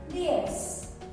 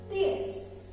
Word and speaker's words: diez: And 10, diez. Again, the Z here is pronounced with the S sound.